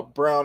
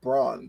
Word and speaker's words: Brown: also unfortunately since uh Brown actually had a possession of it the shot clock resets I can't want to call them bronze but it's brown that's how you pronounce it believe he's out